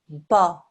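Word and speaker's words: ب: inside the wet parts press the wet parts of your lips together bar that's how you pronounce and form this sound bar with the wet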